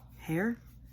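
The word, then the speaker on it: Heir: of the dark air why did i say it like that like it's air hair hair air it's the dark air there you go that's kind of right miss colleen hooper has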